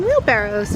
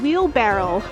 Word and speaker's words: wheelbarrow: saying that all wrong I've said wheelbarrow instead of wheelbarrow I've been saying it wrong my entire life wheeled Barrel I know Barrow but that's what I've been saying it wrong we don't know what a sparrow is when we're kids we're